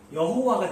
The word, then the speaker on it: 여호와: 그래서 A, O, I 붙여서 여호와가 된 거예요. 그래서 우리가 이걸 여호와라고 부릅니다. 근데 학자들은 이 발음이 여호와보다는 야훼가 더 맞다라고 얘기를 하는 거죠.